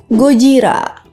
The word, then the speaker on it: Gojira: dengan l sama seperti Godzilla yang sebenarnya disebut gojira tapi karena film Kaijo